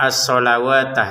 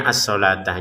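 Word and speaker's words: الصلوة: Di sini kata asalawatah seakan-akan ya seakan-akan ini tulisannya asawat padahal ini cara bacanya asalatah. Jadi huruf lam harakat fathah. Kemudian ada wau di atasnya ini bukan harakat ya. Sekali lagi di atasnya wau bukan harakat.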